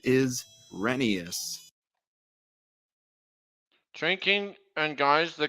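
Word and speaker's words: Rheneas: the correct pronunciation is renius drinking and guys the correct pronunciation is renius but I want to call him when nay is how that shrinking it's pronounced renius kind of like Phineas here's the proof Isaiah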